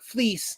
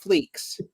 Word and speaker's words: Fleecs: And also just thanks for figuring out that his name is pronounced like fleece, not fleeks, because that was going to get crazy embarrassing very quickly if you hadn't found that out.